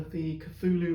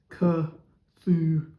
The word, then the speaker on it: Cthulhu: Cthulhu monsters with its famous tentacles.